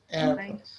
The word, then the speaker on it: airport: What about airport? Port. Yes, first. The first syllable, yeah, airport.